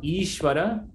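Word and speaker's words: īśvara: is just like rama so notice how ishwara many people don't know that it's a long e so this is karthuri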